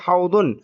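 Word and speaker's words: حوض: House বিজানে বিল মাসজিদি হাউদুন হাউদুন এখানে যে দকে আমি য পড়ার পক্ষপাতী না। আমি দকে দদ হিসেবেই উচ্চারণ করার পক্ষপাতী।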